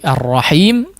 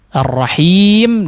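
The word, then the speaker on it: الرحيم: Ha di situ juga yang ada di ar-rahim perlu diperhatikan ya cara pengucapannya yang jelas atau dihaluskan ya, tidak condong kepada kha ataupun kepada huruf ha mungkin ya.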